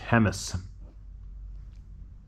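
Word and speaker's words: Jemez: back in the 90s he went up to Himes it's spelled j it's spelled Jes but it's pronounced hemus so why didn't they spell it hemus just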